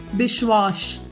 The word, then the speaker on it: Biswas: a kishorda song and making abhishek pronounce the surname bishwash to name a few